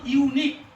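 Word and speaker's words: unique: আচ্ছা দেখো এই উচ্চারণ প্রথমে কি আছে গো? হ্যাঁ ইউ। ভাওয়েল না কনসোনেন্ট? ভাওয়েল। তাহলে ওয়ার্ডটির উচ্চারণ কি হচ্ছে বলো তো? ইউনিক। দেখো ওয়ার্ডটির উচ্চারণ কি হচ্ছে? ইউনিক। দেখো ওয়ার্ডটির উচ্চারণে ইউ আসছে না?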